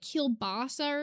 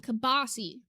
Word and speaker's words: kielbasa: Well, I think you guys pronounce them like kielbasa or something. My family calls them kibasi.